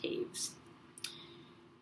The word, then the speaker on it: Taves: I say, no, it's Taves, because my last name looks like it says toes, but it's actually pronounced Taves.